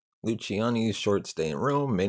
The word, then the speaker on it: Luciani: refused to yield to Luciani's continued demands to save the San Marco. Of course, I'm saying his name wrong. Luchiani's short stay in Rome made an impression.